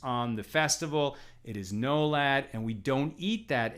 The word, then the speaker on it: nolad: This is a principle called nolad, N-O-L-A-D, if you want to spell it out in English, nolad.